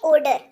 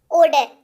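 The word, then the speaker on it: odor: अच्छा, अगला शब्द है गंध, जिसको कहते हैं ओडर। ठीक है, ओडर, कुछ लोग ओडोर भी कहते हैं, बट उच्चारण जो है वो ओडर, ओडर, ओडर।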